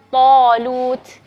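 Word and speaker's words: طالوت: Jadi misalnya kalau misalnya kalimat talut, jadi to setelahnya ada alif mad, maka alif di situ akan kita bacanya tebal.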